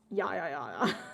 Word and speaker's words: ja: Yoka because they pronounce the J as a Y. That's why the Y is pronounced as oopsilon and then the J is pronounced as Y. So when they say jaja, when you see someone typing ja, it means ya to them.